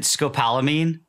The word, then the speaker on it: scopolamine: I don't know if I'm pronouncing it right, Kevin, but is it scopolamine?